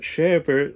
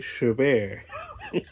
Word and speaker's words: Chabert: Not Chabert like I thought, the T is silent. I looked it up. Lacey Chabert.